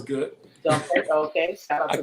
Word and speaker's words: Dumphord: Am I saying it right, Dumphord? Yeah, it sounds good. Dumphord, okay.